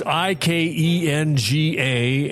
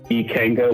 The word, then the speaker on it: Ikenga: It's I K E N G A and you pronounce it how? Ikenga Wines.